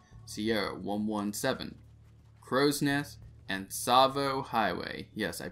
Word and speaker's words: Tsavo: It is week number 13, and the missions for this week are Sierra 117, Crow's Nest, and Tsavo Highway. Yes, I pronounced it correctly this week.